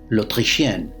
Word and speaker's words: l'Autrichienne: como la austríaca, que en francés se pronuncia l'autrichienne y que suena como l'autrichienne, la otra perra.